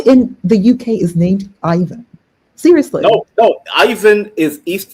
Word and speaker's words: Ivan: No, I believe Yvonne is the correct pronunciation. And who in the UK is named Ivan?